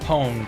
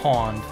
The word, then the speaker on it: pwned: no it's not it has never been pronounced poemed it's pawned it was always spelled with an a until it was shortened to pwn you see that's something